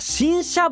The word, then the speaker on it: 辰砂: そしてこの硫黄バイオームには読み方新車ブロックと言われ